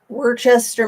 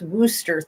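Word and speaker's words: Worcester: usually targeted absolutely um Worchester Massachusetts is pronounced Wooster thank you Worchester I'm like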